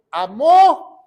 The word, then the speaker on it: amó: 316 de tal manera Dios amó con acento en la o o en inglés dice